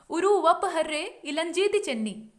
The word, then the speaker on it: उरुवप्पहर्रे इलंजेती चेन्नी: लंबा सा नाम है, तो उच्चारण क्या होगा, उरुवप्पहर्रे इलंजेती चेन्नी, ये पूरा नाम है, उरुवप्पहर्रे इलंजेती चेन्नी, ये